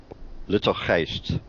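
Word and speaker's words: Luttelgeest: And I think this is pronounced Lutelgeest. Lutelgeest is how it's pronounced, actually, in Dutch.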